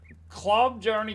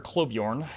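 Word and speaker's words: Klobjarne: um club journey gear or clubjorn if you want to say it properly.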